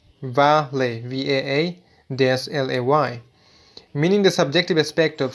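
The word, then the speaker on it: quale: A typical such puzzle is that of Qualia, Qualia, singular quail, which rhymes with Vale, Vaa-lay, meaning the subjective aspect of sensations.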